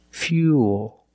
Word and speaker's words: fuel: the dark L Fuel fuel not fuel remember when you link the ooh plus the dark L the mouth opens a little bit but it's not a real syllable it's like this dual